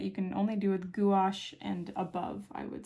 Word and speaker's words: gouache: typically something that you can only do with gouache and above I would say um is paint